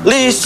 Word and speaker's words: Lies: Tapi pakai E. Lisnya pakai E. Ejaan lama. Lies. Nah, tulisannya begitu. Dibacanya? Lis. Ya saya kan ngomongnya Lis tadi.